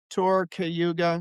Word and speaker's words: Cayuga: the website so they can hear how it's pronounced properly? Sure. It's just two words, tour cayuga.